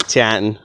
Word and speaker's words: Taunton: You gotta say it like that, Taunton. If you're from here, you know.